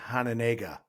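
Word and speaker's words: Hononegah: I think that's how you say it, right? Yep. That's how I've always said it. I've heard people say Hanenega, too. Hanenega. Okay. But I've always said Hananaga.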